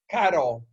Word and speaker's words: caro: Caro. It's the word car, C-A-R, then an O, caro.